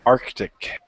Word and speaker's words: Arctic: see right okay so another C like it's saying hard to see C but it's there Arctic have problems with the